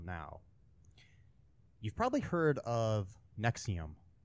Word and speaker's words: NXIVM: was okay the um nexium is nxivm is how it's spelled it is a uh